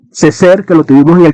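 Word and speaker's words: Césaire: Aés Ceser, perdón, no sé francés, pero una vez escuché alguien en una conferencia y así se pronuncia el apellido, Ceser, que lo tuvimos en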